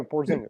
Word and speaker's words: Porzingis: Porzingis.